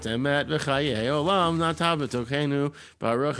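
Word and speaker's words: אמת: But it's like all of that is, it's Asher natan lanu Torah emet, right? So all the emphases are on the end of the words. And then if you do the Eastern European Ashkenazi pronunciations, Asher nosan lanu Toiras emes. So everything's on the front of it.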